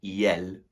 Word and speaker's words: iels: And if you are referring to a group of non-binary people, you would say iel with the silent S on the end.